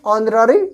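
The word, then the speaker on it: honorary: तरह हो रही है यहां पे एच जो है ये बिल्कुल क्या हो रहा है साइलेंट हो जा रहा है इसके वजह से नरे बल तो ऑन अ आ आ क्या हो गया आपका एक वल साउंड हो गया इसके पहले हम एन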